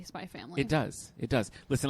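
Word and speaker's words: SPY×FAMILY: And today we're talking about, drumroll, I say it, Spy Family. Spy Family. Okay. With a silent X.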